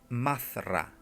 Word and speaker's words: Madra: Los magos de Amorc usan para sus fines demoníacos el mantra Madra, se pronuncia Mazra, y aseguran a sus